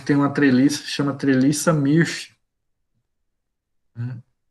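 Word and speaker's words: Mörsch: uma treliça, chama treliça Mirch, né? Se escreve diferente porque é do alemão, né?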